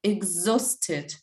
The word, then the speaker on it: exhausted: uh listen carefully and tell me which letter is not pronounced exhausted this one yes what is not pronounced maybe a okay and exhausted h is not pronounced noise exhausted h is not pronounced yes and a and you we pronounce like oh yeah exhausted like o exhausted let's repeat it all